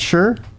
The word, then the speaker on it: Shure: Is that how you say it? Sure. SHURE. See the H always messes me up.